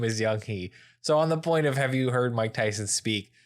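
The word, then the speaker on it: Yung Hee: Like, I'm like, this is your own daughter, and you can't pronounce her name. Have you heard him speak? Young-hee. Young-hee. So her name is Young-hee.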